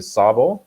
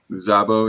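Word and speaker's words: Szabo: out because i don't know if i ever pronounce this correctly the sabor zabo yeah yep yes okay thanks everyone telling me i'm wrong i appreciate that which is z 3 and 4.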